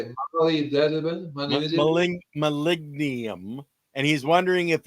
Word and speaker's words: molybdenum: Molybdenum.